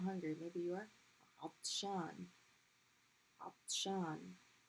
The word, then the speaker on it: عطشان: عطشان. Not عط, but عطططة. It's a heavy.